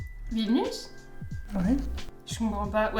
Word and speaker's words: Vilnius: Ah, mais non, c'est Vilnaus. Parce que c'est même Vilnaus Street.